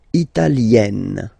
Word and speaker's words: italienne: L'Italie, italien, italienne. Remember, when you get this followed by a double consonant like here, then you will have to open it.